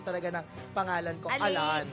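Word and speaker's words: Alain: So ang right pronunciation talaga ng pangalan ko Alan. Alon pero ang spelling A L A I N. Pero yun talaga ang pronunciation. Pronunciation kasi French siya.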